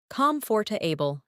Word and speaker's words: comfortable: Comfortable, not comfortable.